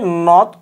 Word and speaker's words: নদী: সেই ঠিকভাবে নর সঙ্গে অ আছে, সেই নর পরে দত দীর্ঘই আছে, তাহলে এটা হবে নদ ওকার নদী।